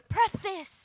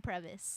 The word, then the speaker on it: preface: ambulance ambulance it's ambulance but you knew what i was saying when i was saying previous no i knew what you meant i i knew you meant but you were saying i know how to spell it p-r-e-f-a-c-e okay say it now say